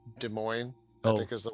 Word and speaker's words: Des Moines: And even though like so it's Des Moines, I Oh, think is the way. I Uh, completely yeah, butchered no, it.